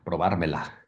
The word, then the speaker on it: probármela: Oh, you pronounce the L. Yeah, probármela. Oh, you only don't pronounce the L if there's two L's. Yeah, if there's two L's, it's yeah. Okay. Like a Y sound. Yeah, but this is one L, so it's probármela.